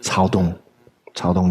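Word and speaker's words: Caodong: Irrespective of what we may think of Cao Dong, it's pronounced Cao Dong Chan, Soto Zen, through the lens of the kind of Japanese transmission.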